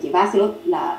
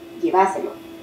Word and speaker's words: lleváselo: En ese lugar, la tilde no sería en llévaselo, sino en lleváselo, el énfasis sería en va, y ahí se llevaría la tilde. Lleváselo, lleváselo.